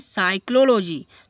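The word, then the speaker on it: psychology: जैसे कि साइकोलॉजी तो एस से पहले पी है तो इसको साइलेंट कर देंगे।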